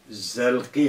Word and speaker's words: zelki: Bak, biz zilki demiş, o kesre yanlış.